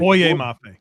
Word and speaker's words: Boye Mafe: And also, how do you Go ahead and pronounce it for me, Jeremy. Uh Mafe, is that correctly? Boye Mafe.